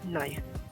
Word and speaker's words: knife: এই যেমন ধরুন KNIFE নাই, এখানে কিন্তু কে এর উচ্চারণ হয়নি।